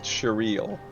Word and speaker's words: Cheryl: It's pronounced Cheryl.